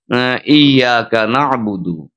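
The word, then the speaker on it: إِيَّاكَ نَعْبُدُ: এছাড়া আরো একটা জায়গা আছে ইয়াকানাবুদু। এই যে একটা জায়গা আছে ইয়াকানাবুদুইয়া। এখানে তাসদিদের কারণে আমাদের একটি ধাক্কা দিয়ে তাসদিদটা উচ্চারণ করে আমাদের পড়তে হবে।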